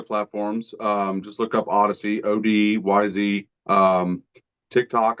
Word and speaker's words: ODYZ: Um, I know a lot of people are having trouble pronouncing it, but it is Odyssey. Uh, it's not Otis.